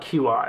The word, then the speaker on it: Qi: It's spelled QI. It's pronounced Qi wireless receiver, and it worked for the longest time.